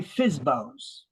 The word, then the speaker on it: FSBO: real estate by by fsbos uh it's basically a for sale bu owner uh we pronounce it fsbo fsbo fsbo it's a for sale